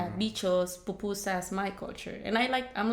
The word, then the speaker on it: pupusa: food to people, explaining to people what a pupusa was. Everybody would pronounce it 100 different ways or read it a different, a pup USA, a papusa.